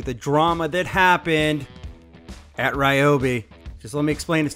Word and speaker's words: Ryobi: it is actually pronounced ryobi correct it's ryobi hey what's up everybody hey my name is i just want to let you know that uh it is pronounced right uber not ryobi but listen let's not